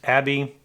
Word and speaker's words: Abbe: an article about ernst abbey uh we realize that's probably not the correct pronunciation it's german could be abbe uh but it is